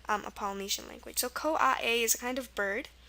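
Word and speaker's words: koae: this is pronounced uh COA a it has the a it's not it doesn't use the I sound just I'm just mentioning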